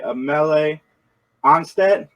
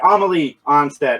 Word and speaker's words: Amelie Anstett: three geeks conversation we are joined today by a melee onsted i pronounce that right amelie onsted i got it the second time that is